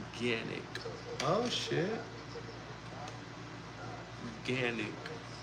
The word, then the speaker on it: Canik: Ganic is actually pronounced ganic. Oh shit. Ganic. So you pronounce it with the G instead of the C, right?